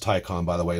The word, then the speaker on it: Taycan: so let's talk about the tycon it is pronounced tycon by the way not take on i know i know whatever anyway what i